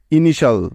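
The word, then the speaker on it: initial: করা যায় না কারণ টি আই এল এই চারটি বর্ণ একত্রে মিলে একটি ওয়ার্ড প্যাটার্ন তৈরি করে যার উচ্চারণ সবসময় হয় সল শাল এর মত ঠিক তো তাহলে এই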